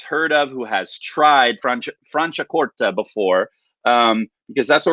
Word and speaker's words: Franciacorta: you'll do much better so franciacorta okay franciacorta is how you say this it's not like franciacorta or anything that says franciacorta okay